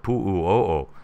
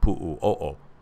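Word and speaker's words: Puʻuʻōʻō: leading me to want to watch over at Pu'u'o'o. The earthquakes went over to Pu'u'o'o, but as far as I know, nothing else happened over at Pu'u'o'o, which is spelled P-U-U-O-O, in case you're wondering.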